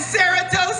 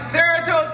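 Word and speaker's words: Cerritos: know you're lying he goes no I'm in Saros California man I'm like Sarat California I go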